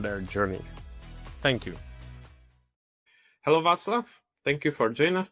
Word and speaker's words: Václav: So my name is Vaclav, and not Vaclav and not Vaclav, as some people would pronounce it.